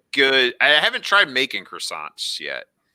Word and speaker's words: croissant: tried making croissants yet now you have to say it correctly quasar croissant no no no r get rid of that r in there croissant ah not no t no t in there either croissant i'm seeing a t